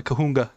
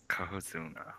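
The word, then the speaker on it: Cohozuna: And then we'll go take down the Kahunga. Yeah. I love that name, Kahunga. I think it's like Kohozunga, actually. I think there's like an extra syllable I'm missing.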